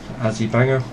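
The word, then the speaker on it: Azi Banger: For those of you who have never seen Azzy Banger before, it's spelled A-Z-I or A-Z-I. Okay, that's Azzy, and then Banger, B-A-N-G-E-R. Azzy Banger.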